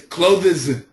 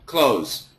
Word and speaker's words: clothes: this word whoa yeah that's wrong it's closes yeah but no no it just sounds like clothes clothes it's the same as this breeze breeze one so perfect pronunciation clothes clothes that's perfect but nobody does it we just say clothes clothes nice clothes